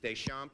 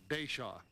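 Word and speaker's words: Deschamps: Mr a m Mr Des shamp am I pronouncing your name right pronounce it deshaw Desa well don't pronounce the you're from Missoula Montana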